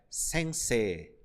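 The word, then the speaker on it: 先生: Quando você tiver uma sílaba que tem nela a vogal E no final e temos aqui o I, a pronúncia será E, E. Então ele prolonga esse E.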